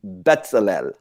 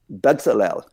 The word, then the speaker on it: Bezalel: Biblical character would be Bezalel.